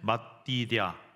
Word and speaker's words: 맛디댜: 그런데 문제가 하나 있어요이 사람 이름이 발음이 너무 어렵다는 거죠 한번 따라해 보시겠어요 마띠다 발음이 어렵습니다 그래서 제가 이제 이름을